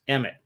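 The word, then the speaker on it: אמת: It's Aleph, Mem, Tet, pronounced Emet, which means truth in Hebrew.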